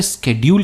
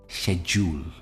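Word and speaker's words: schedule: में स्केड्यूल कहते हैं काफी लोग इसे स्केड्यूल कहते हैं और काफी एक्सेप्टेबल भी है पर इसकी सही प्रोनंसिएशन जो है वो है शेड्यूल ये इसकी सही प्रोनंसिएशन है शेड्यूल कैन वी शूल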